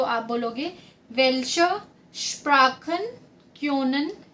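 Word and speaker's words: Sprachen: ठीक है, अगर आप फॉर्मल वे में किसी से पूछ रहे हो तो आप बोलोगे वेल्शा स्प्राखन क्योनन जी। इसको कैसे प्रोनाउंस करेंगे?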